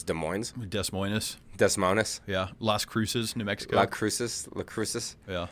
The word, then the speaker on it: Des Moines: Basically, all you're doing is you're saying that the official pronunciation is Concord and not Concord. Mm-hmm. So, what would be another place? Instead of Des Moines, Iowa, it's Des Moines.